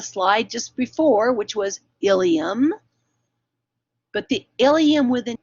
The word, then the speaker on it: ileum: um is this part that's pronounced ilium same pronunciation as we had on the the slide just before which was ileum but the ileum with an e belongs in